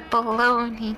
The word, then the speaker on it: bologna: not the beautiful garden the baloney Garden the bologna Garden I hate that it's spelled like that why can't it just be spelled like you think it's spelled okay this episode is